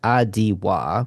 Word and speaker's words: Atiwa: Atiwa. There is a pronunciation guide for how it would be. It's like Adiwa, which is based on the Adiwa range of a rainforest.